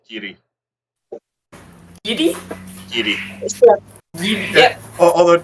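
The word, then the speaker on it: Garioch: Yeah, Gary, pronounced Giddy.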